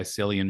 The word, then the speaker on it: Cillian: As a Peaky Blinders fan, coming back from Ireland, I thought you would have got that right, but it's a hard C. Cillian. It's a K.